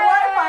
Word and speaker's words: Wi-Fi: It was actually Case's wife, Angela, who came up with the name Wi-Fi after its original name, Wireless Fidelity. It rhymes with hi-fi, hi-fi, Wi-Fi, hi-fi, Wi-Fi.